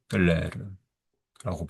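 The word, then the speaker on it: Leclerc: 19세기 학자들 가운데 빅토르 르클레르라고 해야 되나? L-E? C-E? C-L-E-R-E. 예. 그, 빅토르까지는 알고 있고, 빅토르 르클레르라고 발음하겠죠.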